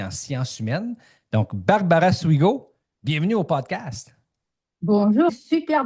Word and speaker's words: Suigo: Donc Barbara Souigo, bienvenue au podcast. Bonjour. Super bien de prononciation de mon de mon nom de famille.